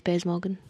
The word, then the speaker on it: Piers Morgan: It's Piers Morgan. I've done it too. It's Piers Morgan. Let's find out now. No. You haven't done it, have you? I have. How to pronounce Piers Morgan?